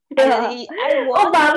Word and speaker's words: Obama: Obama actually, it rhymes with Osama.